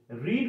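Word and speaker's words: read: তো রিড কথার অর্থ হলো পড়া।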